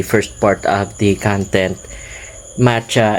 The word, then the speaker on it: Ma Cha: part of the content, Macha is actually a word in Thailand which means I'm late. It is spelled as MA space then CHA. It's actually two words, and it's not the flavor called matcha, which you can find in milk teas, or the chocolate Kit